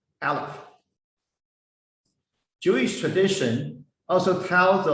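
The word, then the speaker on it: אלף: Its pronunciation is ah, like a silent sigh. However, when we read this letter, we read Aleph.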